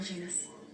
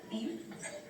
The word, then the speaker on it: Janus: Of course, Colonel Janus. You know, you're mispronouncing that. He's Portuguese, the J's silent. So it's Colonel Aim?